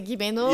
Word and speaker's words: Gimeno: Lots of people say Gimeno, but it's Rimeno, I think.